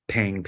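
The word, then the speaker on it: Pheng: Not that they pronounce Pang anyways, because my American name is spelled P-H-E-N-G, so everybody's like Fang, right?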